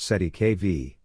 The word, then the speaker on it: cestui que vie: within this complex system the term cestu KV pronounced SE KV is a legal concept